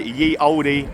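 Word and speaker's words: Ye Olde: Spelled the oldfashioned way. Ye oldie king's head. Uh, but obviously pronounced the old king's head.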